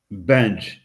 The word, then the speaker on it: Benge: But uh Carson, now how do you pronounce the last name? Benji Benge. Benge.